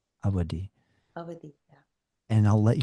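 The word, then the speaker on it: Awadhi: Did I pronounce that properly? How do I say the name of the language? It's Avadi, Avadi.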